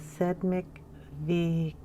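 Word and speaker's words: Sedmikvítek: in this book now i was told by one of my subscribers how to pronounce this so i'm going to try so the title of the book is sed mctech okay and that translates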